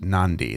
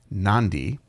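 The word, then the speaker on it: Nadi: I guess it's pronounced Nandi. There's a kind of a an N sound that comes before the D in in the in the Fijian language. So, Nandi, which is the third largest city.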